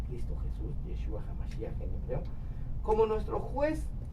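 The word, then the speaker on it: ישוע המשיח: Enfrentará a Cristo Jesús, a Yeshua HaMashiach, si es como se pronuncia Cristo Jesús, Yeshua HaMashiach en hebreo, como nuestro juez o como nuestro abogado defensor, ¿sí?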